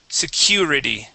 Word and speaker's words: security: security security all right so instead of SEC it is secure security security security all right let's try